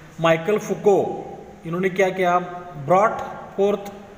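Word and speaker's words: Michel Foucault: और हमारे इस लेसन में जो लास्ट का जो हिस्टोरियन है उनका नाम है माइकल फुको, प्रोनाउंसिएशन ध्यान में रखो, माइकल फुको।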